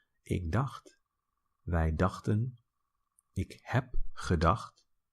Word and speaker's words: dacht: Ik dacht, ch is pronounced ge. Ik dacht, wij dachten, ik heb gedacht, which is I have thought.